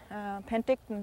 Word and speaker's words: Penticton: meaning to me, like the name of this area here, Sinpinkton, which Penticton, the city over there, is sort of, it's the same word, but it's anglicized in pronunciation.